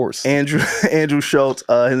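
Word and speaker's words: Schulz: Schultz. Yeah, they Oh I think yall told me I learned. Yeah, he was just on FL. Andrew Andrew Schultz.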